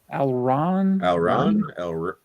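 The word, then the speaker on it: Alraune: I forgot it was on Criterion, so that's definitely Ken says Alrune. Am I pronouncing that right? Alron. Oh, okay.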